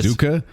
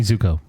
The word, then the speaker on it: Zuko: You say are- Zuka? His name's not Zuka Juice. No, I'm going to say it wrong. Like Danny Zuko.